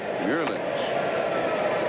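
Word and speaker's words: Meulens: how he pronounced his name how his mom pronounced it he said hencely murlings try that one murlin that was good all right i'm gonna call him mulans two 2-0 the cat there's marfield at first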